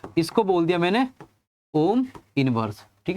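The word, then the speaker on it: mho: है इसको बोल दिया मैंने ओम इवर्स ठीक है तो इसको थोड़ा मॉडिफाई करके बोल दिया ए मतलब पीछे से ही उसको प्रोनाउंस कर दिया मो ठीक है तो ये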